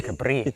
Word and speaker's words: Capri: The island that is mispronounced all over the world in Capri.